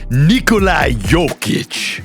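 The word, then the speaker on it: Jokić: And here's a hint, you actually say it. Nikolai Yic.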